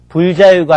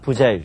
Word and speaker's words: 부자유: 불 뒤에 디귿과 지읒으로 시작되는 음이 올 때는 불이 아닌 부로 발음합니다. 예를 들어서 불정이 아니라 부정입니다. 바르지 못한 거죠. 불자유가 아니라 부자유, 자유롭지 못한 거, 그리고 끊임이